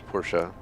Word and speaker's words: Porsche: So just like they say Porsche in America, and it's Porsche.